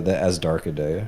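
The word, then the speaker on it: Azhdarchidae: How do you pronounce it? Oh, for pterosaurs, that's the Asdarchidae.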